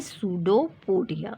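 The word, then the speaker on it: pseudopodia: उन पार्ट्स को हम कहते हैं सूडोपोडिया। ओके, यहाँ पर पी साइलेंट है, ध्यान दीजिएगा।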